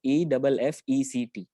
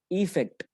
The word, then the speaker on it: effect: एक तो है AFFECT एंड the second one इज EFFECT. Okay, maximum students का इसमें जो प्रोनाउंसिएशन होता है that is wrong. First one is pronounced as अफेक्ट एंड the second one इज इफेक्ट. Effect, right?